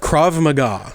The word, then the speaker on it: Krav Maga: It's Can you pronounce that again? McGruff the dog. What type of style is it? Krav Maga.